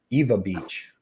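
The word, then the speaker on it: Ewa Beach: some money now um Shady said it's Eva Eva Beach Eva Eva Beach um even though it's spelled I like it okay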